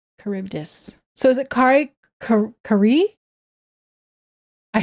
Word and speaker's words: Charybdis: Her pronunciation, pretty sure, and Mr. Streams. Oh, Charybdis. Kari Charybdis.